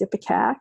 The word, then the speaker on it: ipecac: two new remedies here we call this epic AK it's spelled in pikake wanna but it's ipecac and the curious both